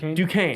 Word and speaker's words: Duquesne: Duquesne. Duquesne. I got to get used to say. I read it and it doesn't I know, it look doesn't like look like Duquesne. anything like it. Duquesne.